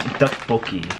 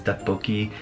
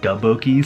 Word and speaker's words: 떡볶이: This is one of my favorite Korean dishes, is Dukbokki, and I've always said it wrong. I always said it DaBoki, so this is based off of my channel's name.